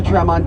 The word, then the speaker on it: Tremont: And if you break it down left onto Tremont, 2 syllables, TRE means 3 and MONT means hills in Latin.